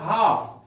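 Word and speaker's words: half: लेते हैं हम लोग हाफ एच ए एल एफ हाफ यहां पर एल साइलेंट है हाफ का अर्थ होता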